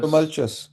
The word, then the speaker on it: tumultuous: This is so difficult to pronounce. Tumul I can't tultuous. Tumultuous.